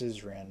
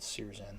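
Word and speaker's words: Syzran: I guess it's Sizran, not Sirzan.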